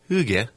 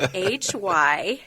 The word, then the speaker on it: hygge: And it's spelled Hygge. Hygge. Hygge. Hygge. Yes. I'm Italian. Well, me too. Hygge. I know. It's just not an Italian. It has no rhythm to this word.